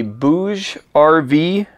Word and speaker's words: BougeRV: today uh this is going to be a bouge RV I think that's how you pronounce it b-o-u-g-e-r-v solar panel now this one